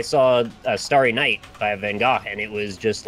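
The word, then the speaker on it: Van Gogh: I mean I saw a star KN by Van go and it was just like there for you to walk up to this guy pronounces van properly AR flash is supposed to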